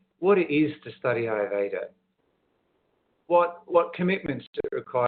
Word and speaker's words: Ayurveda: are the two words that plays together it's pronounced Ayurveda now it is a science but it's got